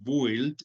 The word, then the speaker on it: build: Les cuento que la U no se pronuncia, no decimos build, sino build, solo pronunciamos la I.